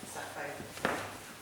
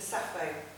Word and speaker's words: Sappho: Today in English, she is all soft sibilants and faded Fs, but in fact she is for Sappho. In ancient Greek and indeed in modern Greek, if you hear a native speaker say her name, she comes across spitting and popping hard Ps. Po.